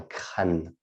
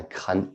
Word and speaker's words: crâne: utilise pour halloween mais ça ça s'appelle un crâne un crâne humain attention la prononciation on prononce à l'on a avec l'accent